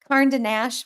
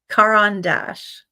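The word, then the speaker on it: Caran d'Ache: I call What are Now that I said it wrong, I can't say it right. Karnash. What are they really? Kandash. Say it again. Karandash. Karan. Karanash. Not Karnash. Okay.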